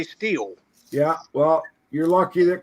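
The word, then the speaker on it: Stihl: I mean, you hear these people say still instead of steel, but then you listen to the commercials, they say steel.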